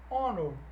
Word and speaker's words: honor: E aí eu chamo a atenção aqui para os nossos Hs mudo, quando o H não é pronunciado. Então no inglês existe apenas 4 palavrinhas que iniciam por o H não pronunciado aí, não audível. Heir, herdeiro. Honest, honesto. Hour, hora. E honor, honra.